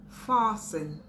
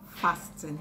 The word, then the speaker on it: fasten: Fasten, fasten, not fasten. So you say fasten your seat belts, not fasten your seat belts.